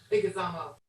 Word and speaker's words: Leguizamo: It's Leguizamo.